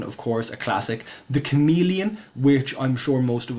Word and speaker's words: Chamaeleon: The chameleon, which I'm sure most of us would agree would be better if it were pronounced Chamalon, but Chameleon is the uh standard pronunciation.